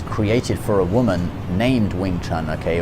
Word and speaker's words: Wing Chun: Wing Chun, it was a style that was created for a woman named Wing Chun, okay? Or in Mandarin, Yong Chun.